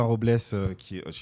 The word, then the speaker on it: Robles: Donc on a Robin Robles, on dit Robles, ouais. Ça se prononce comme ça, qui est producteur, Alison Chassagne